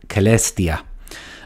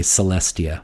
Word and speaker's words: Celestia: the element in question here is the word celestia uh pronounced here uh in english usually we say celestia but it is celestia so so celestia is